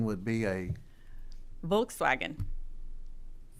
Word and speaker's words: Volkswagen: other than her german the w is pronounced as a v my german assistant so then a volkswagen would be a volkswagen volts wagon volkswagen all right uh you